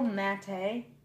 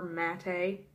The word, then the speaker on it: matte: showing you guys everything they're all matte a matte you know whatever pronunciation you prefer I do prefer matte a that's how I prefer to say it I do prefer that